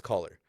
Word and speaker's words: Coller: It's like spelled like cellular, but it's caller.